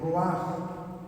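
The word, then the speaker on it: רוח: Bueno, porque nosotros vamos a ver también que la palabra espíritu en hebreo se escribe ruach, R-U-H-U-H, y esa palabra no tan solo significa espíritu, significa viento, aliento, ¿sí?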